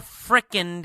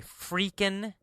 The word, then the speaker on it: frickin': she learned in 4 frickin' days." Frickin'. Frickin' is kind of a slang word. Sometimes people say freakin', so it can be pronounced freakin', or it can be pronounced frickin'.